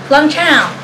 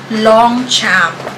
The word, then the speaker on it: Longchamp: Silent G dapat. Yung pronunciation talaga ng Longchamp. Ganon. Kaso, nasanay tayo na Longchamp. Talagang may diin sa Longchamp.